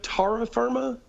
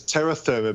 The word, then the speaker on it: terra firma: team do you say tara firma do you know the expression tara firm and and would you pronounce it no it's terra therma because there's an e in terra therma oh oh that's